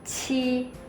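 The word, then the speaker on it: 七: 7 itu ci. Jadi ada anginnya, bisa dicek ci.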